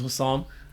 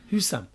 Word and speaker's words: Hussam: So Sam, my full name is Hussam. Okay. So just to make it shorter, and a lot of people, when I tell them my full name, Hussam, they're like, who's Sam? They always say it wrong, do you know what I'm saying?